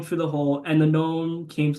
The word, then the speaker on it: Gnome: He's like Yeah, blah blah blah blah Gnome blah. King. Yeah, except not with a G.